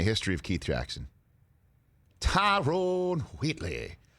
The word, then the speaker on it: Wheatley: Tyrone Wheatley. Because he would pronounce the H in Wheatley.